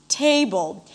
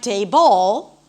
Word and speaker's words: table: So for example, in the word table, the primary stress is on table. If I were to say something like table, it would be completely unclear, especially in context, when I use it in context.